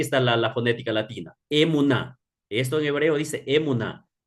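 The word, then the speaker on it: אמונה: el término técnico hebreo es emun s es emun a ver hasta tanto Denme un segundito voy a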